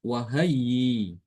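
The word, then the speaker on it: وهيئ: Kalau waqaf dibaca wahayyi. Wahayyi. Hamzahnya diganti dengan apa? Dengan ee huruf mad ya. Ini dinamakan dengan ibdal.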